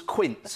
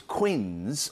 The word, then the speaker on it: quince: in glory right now the answer was quince as in quince jelly but I thought it was Quinn's I didn't know how you said it and spell it